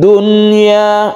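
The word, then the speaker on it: دنيا: Nun mati bertemu dengan ya dalam satu kata. Maka dia disebut dengan idhar wajib atau idhar mutlak. Membacanya harus jelas. Fid dunya, jelas di dalam membaca nunnya. Fid dunya, dan tidak didengungkan.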